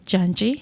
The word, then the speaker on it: Janji: okay so firstly my name is Janji yes ma'am that's how we pronounce it uh those who know